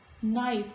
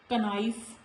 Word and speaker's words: knife: Knife. Not knife. Knife. So in all these words, letter K is silent, and when it is before letter N.